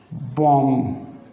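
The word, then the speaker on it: bomb: अगर letter single syllabic है और उसके एंड पे एम बी का कॉम्बिनेशन आ रहा है तो हम बी को साइलेंट कर देंगे।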